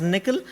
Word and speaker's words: N1QL: new language called as nickel okay uh n1ql it's pronounced as nickel uh which is an